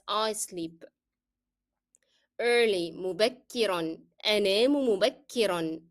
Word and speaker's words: مبكرا: أنام مبكرا. And مبكرا should be always pronounced with the sound of N, that of tanween.